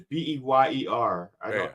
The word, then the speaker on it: Beyer: No, but if Miss Bayer, is it Bayer or Smith? I didn't get the pronunciation. It's Beyer. She said Bayer.